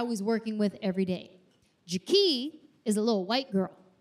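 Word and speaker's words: Ja'Kee': you've probably seen her her name is Ja not Jackie ja it's spelled j a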